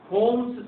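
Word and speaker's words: Holmes: अब क्वेश्चन क्या आता है कि ओल्ड टाइम में होम्स सिग्नल का यूज किया जाता था। क्या कहते हैं उसको, होम्स सिग्नल। एल साइलेंट है, सी में क्या होता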